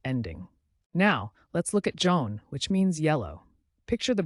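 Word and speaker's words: jaune: now let's look at Joan which means yellow picture the bright Sun or a field of yellow sunflowers Joan sounds like Zone with a soft J orange is both a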